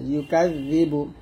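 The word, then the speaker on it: يكذب: জিহ্বাটা উপর দাঁতে আগে লাগিয়ে জাল পাতলে উচ্চারণ করতে হবে। জাল ইয়াজাদি। আর আই তাল্লাযী, ইয়া পেশ ইউ কাফ জাল জবর কাজ, জাল জে জিবা পেশ বু, ইউকাযযিবু, ইউকাযযিবু, জাল পাতলা হবে, ইউকাযযিবু। এই বাগে দালকে ধরবে, বা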